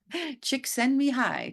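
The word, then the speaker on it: Csikszentmihalyi: an audio I listened uh mahali actually uh pronounced how to say his name and it's chicks send me hi chick send me high chick send me high Mahal chick send me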